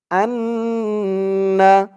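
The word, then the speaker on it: أنّ: ধরবে হামজাহ নুন জবর আন আন বলে এখানে গুন্নাহ করতে হবে ওয়াজিব গুন্না হরকতের পরে নুনের উপরে তাসদিদ আসছে আন্না হরকতের পরে নুন এবং মিম এই দুইটা অক্ষরের উপরে তাসদিদ থাকলেই ওয়াজিব গুন্না আশহাদু আন্না ওয়া আশহাদু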